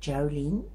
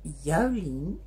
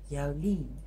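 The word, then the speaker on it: Jouleen: Now, normally it's easier to say Jolene, English Jolene, but her name is pronounced Jolene, and it's J-O-U-L-E-E-N, Jolene.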